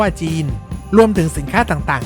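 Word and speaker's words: Gênes: จาก ชาว เจนัว โดย ใน ภาษา ฝรั่งเศส ออก เสียง เรียก เมือง เจนัว ว่า จีน รวม ถึง สินค้า ต่าง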